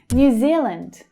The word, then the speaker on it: New Zealand: New Zealand, New Zealand. Can you see that extra y there that's included in the word new, new? Try to make sure that you can hear that word, new.